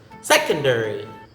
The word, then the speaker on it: secondary: Next is secondary. Secondary, the stress is in the first syllable. Okay, so it's not secondary, it's secondary.